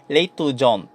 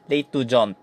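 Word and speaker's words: l'étudiante: Pag babae, l'étudiant. So, dito, nabibigkas mo na yung letter T pag babae.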